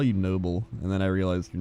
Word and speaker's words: Nobbel: But the Dutch way is noble, but a lot of people say noble.